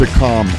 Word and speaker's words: Akam: danielle camella and akam akam is this house pronounced wwe wrestler all right a calm don't remember it okay may 2015 no it's a calm a-k-a-n ah come on anyway